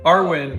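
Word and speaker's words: Arwen: my god let's see how do you pronounce the dog's name Arwin Arwin a r w n Arwin like from Lord of the Rings the elf princess live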